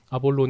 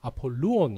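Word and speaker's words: Ἀπολλύων: 정확한 이제 발음은 우리 한국어 성경에서 이제 번역하면서 아볼론 이렇게 됐는데 정확한 발음은 아폴루온 이래 그래요. 아폴론 그 신과 발음이 비슷하죠.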